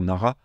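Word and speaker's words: 奈良: ça la prononciation pareil nous en français généralement on va dire Nara mais en japonais c'est bien Nala Nala qui est connu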